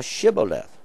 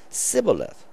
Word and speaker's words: Shibboleth: And the Shibboleth, when they couldn't, is sh sound.